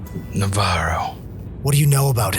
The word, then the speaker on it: Navarro: Are you sure it's pronounced that way, Navarro? Navarro.